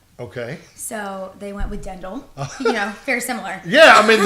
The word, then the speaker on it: Ddendyl: I am pronouncing that right. Thanks for having me. Ddendyl, right?